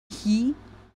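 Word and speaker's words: 日: He. Okay, apparently this by itself is pronounced he.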